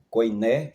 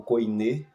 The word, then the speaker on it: koiné: aí é implantado o grego koiné ou koiné, koiné ou koiné, né? Dependendo aí de dos que tem boa pronúncia, né?